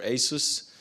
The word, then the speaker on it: Asus: three weeks ago with Asus which is our first customer or Asus as they as they are pronounced in the states and they have actually